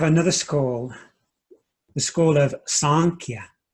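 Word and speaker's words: Sāṃkhya: school the school of sanchia m with a dot underneath it represents a kind of a nasalized sound say the school of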